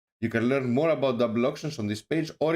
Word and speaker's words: DBL: Is DBL DEX pronounced double or DBL? It's pronounced double.